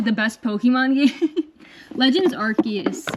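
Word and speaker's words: Arceus: best Pokémon game Legends archus is or arus I pronounce it archus this but um this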